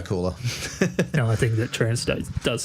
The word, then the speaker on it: Trancestate: The band name is Trancestate.